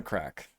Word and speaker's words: craic: CRA half lumps on crack CRA is an Irish word but it's actually pronounced crack and okay MVP oh